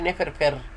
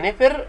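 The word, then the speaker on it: nfr: تتنطق كلها على بعض مره واحده، نفر، ما نقولش نفر فر، لا، هي نفر والفير والري دي داخلين فيها، يبقى نفر.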